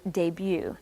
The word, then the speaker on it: debut: anyway yeah you're right the T on the end of that word you don't say the T right I think it